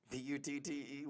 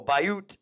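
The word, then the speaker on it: Butte: Butt. Windybutt. Really? Oh, Bayoot. Okay. It's like beautiful.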